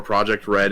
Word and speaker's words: Project R3D: a few years as project r3d or project red is how we pronounce but you know so